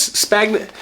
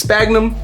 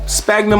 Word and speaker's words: sphagnum: need is stagna moss ADI says spagnet how do you say this sphagnum sphagnum Moss oh and it's open